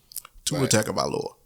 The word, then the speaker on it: Tua Tagovailoa: My next man up is I'm going to struggle pronouncing his name. Tua Tagovailoa.